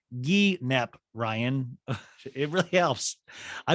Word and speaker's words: guinep: She goes, it's pronounced guinep, Ryan.